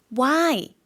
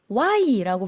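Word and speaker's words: ไหว้: 인사법 Y라고 발음을 했습니다. 네, 이성으로 발음을 한 거고요. 올라갔다가 내려가는 의미죠.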